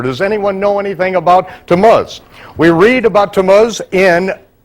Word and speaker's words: Tammuz: Can anyone pronounce that for me? Tammuz. Tammuz.